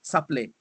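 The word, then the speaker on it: Caplait: It's spelled C-A-P-L-A-I-T, Saplé. Oh, Saplé, okay. In French.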